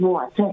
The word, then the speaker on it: water: her and other people, water has a T, not a D. We need to stop saying water, water. That's the American pronunciation. And it's incorrect. It is not how we speak. It is water.